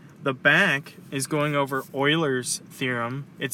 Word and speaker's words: Euler: for the front the back is going over Oilers theorem it spelled Euler but it's pronounced Euler and it's as f plus V